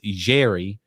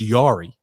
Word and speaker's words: Jarry: that's what mike i'm saying apparently tj it's jerry uh that's what brandon says i thought it was always pronounced yari that's how it's spelled yara i knew you